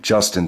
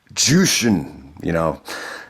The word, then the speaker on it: Jushin: I mean, anytime you mispronounce someone's name like Jushin Thunder Liger, he actually called him Justin Thunder Liger with Chris Benoit on commentary. And it even pissed Benoit off. He's like, Jushin, So anytime you hear